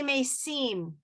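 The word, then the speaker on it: מתים: Orthodox will say mechaye mesim atarav leoshia, right? That won't pronounce it won't be metim, it will be mesim. And that's how that is how the European Ashkenazis would have pronounced it.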